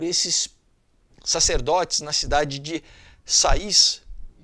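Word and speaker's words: Saïs: E com todos os sinais de respeito por esses sacerdotes na cidade de Sais, que se escreve Sais, tá? Mas é Sais, que serviam no templo da deusa Ísis, tá?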